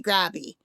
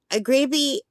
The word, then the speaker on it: Grabie: I've heard it pronounced GRABIE. But phonetically, that would be the long A because there's only one B. There would have to be two B's for it to be GRABIE. So it should be pronounced GRABIE, I guess.